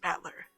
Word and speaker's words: Battler: is my given name this is made up of the characters for fight and person and it's pronounced battler put it all together